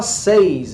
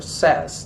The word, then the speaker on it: says: Muda um pouquinho a pronúncia aqui, não se fala says em inglês, é says, tá?